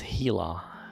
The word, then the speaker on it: Gila: like that Raleigh greetings right pronunciation is Gila I remember like right